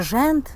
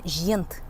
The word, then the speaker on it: жент: И не жент, а жент. Вот.